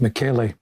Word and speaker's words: Michele: And the Italian pronunciation is Michele.